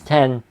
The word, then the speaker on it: X: to the iphone 10 well some people say x but incorrectly it's 10 is how it's pronounced in gold and then after that iphone